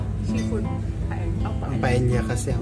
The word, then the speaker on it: paella: Paella. Seafood. Ang paella kasi, ang double L kasi dito, Y ang pronunciation na kaya paella.